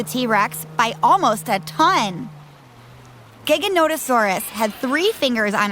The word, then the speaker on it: Giganotosaurus: to leave them alone looks like gigantosaurus and actually was one of the largest meat-eating dinosaurs but its name is pronounced giganotosaurus it was discovered in